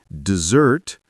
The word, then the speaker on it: dessert: Dessert, the sweet dish, is dessert, while desert, a dry, sandy place, is desert.